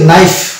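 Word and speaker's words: knife: দিয়ে কোন কিছু কাটা হয় ছুরি এই যে নাইফ নাইফের স্প্রিং হবে কে এন আই এফ ই যদিও কিন্তু উচ্চারণের সময় কে সাইলেন্ট হয়ে যাবে তো এই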